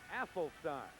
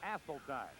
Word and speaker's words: Asseltine: By the way, we've always called Asseltine Asselstein. Just in the last couple of weeks, we've been informed the correct pronunciation is Asseltine.